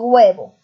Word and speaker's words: huevo: ¿Cómo se dice? ¿Huevo o yo digo huevo? Como digo, con G, ¿no es cierto?